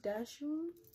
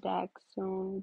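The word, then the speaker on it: dachshund: your dog's breathe wrong it's daxone dex and sound like that badger dog you know came up in germany you know i did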